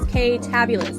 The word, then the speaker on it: Ktabulous: that I always wanted, which is Ktabulous, because it rhymes with fabulous.